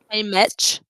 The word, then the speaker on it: Haymitch: And then we meet Hang It. How do we say his name? Hey, Mitch.